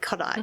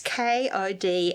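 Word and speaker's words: Kodály: And I struggle when I say Kodaly because it's not spelt. For those that don't know, it's Kodaly, and I have to keep on giving myself notes that it's pronounced Kodaly because it's Hungarian, isn't it, Margaret?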